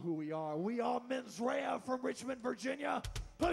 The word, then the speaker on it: Mensera: yeah that's because I have gotten the correct pronunciation men's Raya is up next so come on give it